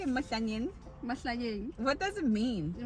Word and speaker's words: Mahlanyeng: Mahlanyeng.